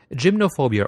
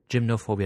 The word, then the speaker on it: gymnophobia: going to focus on gymnophobia or gynophobia depending on whether you want to put the uh uh Greek or English pronunciation behind the word um it is a